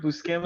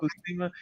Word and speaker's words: Buscema: Buscema. Yep. Buscema.